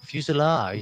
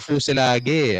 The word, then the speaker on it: fuselage: baka hutan fuselage oo fuselage yun pala yung pronunciation fuselage oala ko fuse lagi a fuse L okay okay okay yan